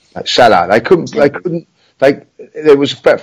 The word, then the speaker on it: Salah: How's his pronounced? Salah.